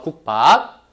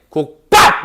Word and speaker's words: 국밥: 그래서 발음할 때 어떻게? 국밥! 이렇게 발음하는 거야. 국밥. 이해했어? 자, 비읍이 뭐로 된 거다? 쌍비읍으로 된 거다.